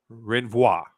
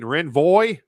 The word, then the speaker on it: renvoi: law the pro and i'm gonna mispronounce this intentionally because the way you're supposed to pronounce it in law is wrong it is wrong and you should not pronounce french this way i'm going to pronounce it revoir if you ask a lawyer they'll be like you mean renvoy and i will explain